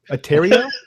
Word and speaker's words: Atari: a ter a ter I almost say Atari I is that wrong is Atari right I mean is it wrong what atario no but Atari is right that's the pronunciation they put out there I've always said Atari